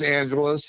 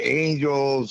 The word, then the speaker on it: Angeles: know what we're um the name of the van is angelus and my name is and a lot of people um mispronounce it so i want to make sure you know that uh we got that um down um you know some people say angels or angelese but really appreciate you